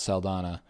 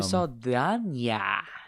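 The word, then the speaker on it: Saldaña: Um because there's the N there's the Ñ. Yeah, the the tilde before the N or above the N. my whole life or I guess not my whole life. I haven't I've been saying it since Yeah, as long as you've known who she is. But but wow, Zoe Saldana. Interesting. Give a little ya to the end.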